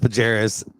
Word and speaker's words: Barajas: It's pronounced Pajeras.